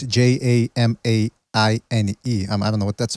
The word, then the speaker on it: Jermaine: Well, listen, in regards to Jermaine Ortiz, I don't even know how you pronounce his name, by the way. It's Jamaine.